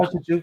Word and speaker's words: Recreio: Recreo. It's spelled Recreio. Recreo.